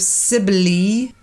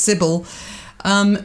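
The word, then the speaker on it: Cybele: up the image of Sibley and I saw it's pronounced Sybil who had this entourage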